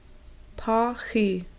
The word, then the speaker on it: Paxi: the garden, and then actually hear the Ho-Chunk pronunciations of the plants in the garden. Milkweed. Mahinch. Sunchoke. Pa-chi.